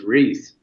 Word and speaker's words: Reiss: It is Reiss. It is Reiss, I guess correctly, almost like the peanut butter cups, Reiss peanut butter cups.